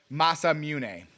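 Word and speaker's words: Masamune: I didn't have time to uh get it into the drops, but he did say it was Masa Mune.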